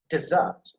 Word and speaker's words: dessert: two syllables so dessert so when you put a stress on the first syllable like this dessert dessert dessert you see the left